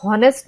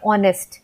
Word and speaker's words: honest: तो यहाँ पे एच जो है वो साइलेंट है, हमें ऐसा लगता है कि हम ओ से स्टार्ट कर रहे हैं ऑनेस्ट, बट ये स्टार्ट होता है एच से।